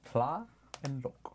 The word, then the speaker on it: Tlaloc: It's like Tonlok, but Tlaloc. Tlaloc. It's two Tlaloc. syllables. Tla and loc.